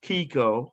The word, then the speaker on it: Keiko: having This is Keiko, who was pronounced Keiko.